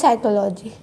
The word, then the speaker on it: psychology: and like pneumonia psychology how do we pronounce psychology it starts from s but when it comes to WR it we starts from P so that are silent